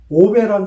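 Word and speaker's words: 鰲拜: 그 중에 가장 유명한 사람이 오베란 사람이 있습니다. 중국 발음으로는 아오빠인데요. 한자 발음으로 하면 오베입니다.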